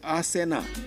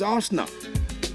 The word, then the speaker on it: Arsenal: you didn't know before that is wrong to say he arsena and you've been told several time he's not arsena is Arsenal but you still keep